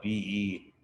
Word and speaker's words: Bisson: It's spelled Besaw, Bisson. Okay?